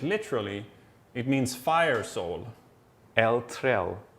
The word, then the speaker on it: eldsjäl: Eltrel. Yeah, eldsjäl. Eltrel. Yeah, it's a Okay. difficult one because Yeah. we have that J pronunciation, which is very Swedish, but it means basically your soul is on fire.